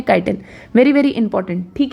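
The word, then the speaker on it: chitin: है जिसका नाम है काइटिन। बहुत लोग इसको चिटिन भी बोलते हैं, तो चिटिन इज रॉन्ग प्रोनाउंसिएशन, इसका सही प्रोनाउंसिएशन काइटिन है।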